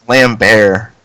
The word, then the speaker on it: Lambert: so maybe it does work yeah it's like lamb bear member wait what yeah it's like you don't pronounce the T it's cuz he's French anyway